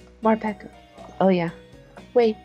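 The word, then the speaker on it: Morpeko: even metapod is very up for you it's pronounced more peco marpaco oh yeah wait more pekko don't tell me you actually like ashley ugh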